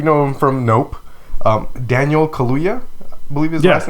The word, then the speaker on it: Kaluuya: Daniel Kaluuya, I believe his last name is pronounced.